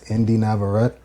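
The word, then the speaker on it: Indie Navarrette: And one person that I specifically want to mention, and I hope I pronounced her name correctly, is Indie Navaret.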